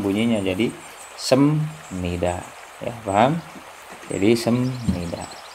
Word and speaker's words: 습니다: Yang ketiga sem nida itu sebenarnya kan seperti ini, sep ya.